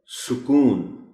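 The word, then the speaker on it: سکون: नहीं बोल सकते है सुकून इसे जल्दी और रवानी में सुकून पड़ती है कुछ लोग सन के ऊपर कुछ भी नहीं इस्तेमाल कुछ लोग सीन के ऊपर जबर इस्तेमाल कर जाते हैं दुरुस्त लफ्ज़ है सुकून सुकून रिफाही रे के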